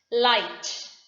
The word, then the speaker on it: light: i h i hi light l i g h t the g h is coming again after the wobble i thought t h o